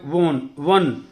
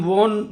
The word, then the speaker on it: won: Young boy, for this race you have वन, युवा लड़के आप रेस जीत गए हो। ये WON, बेटा इसकी प्रोनाउंसिएशन वन होती है, वन। हम वोन जो सुनते आए हैं, that is रॉन्ग pronunciation, वन।